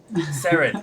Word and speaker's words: Seren: with your pronunciation of Sarah Serene isn't it wait am I saying it wrong you you you you are because it's it's Welsh for Star sarin is sarin SAR s SAR yeah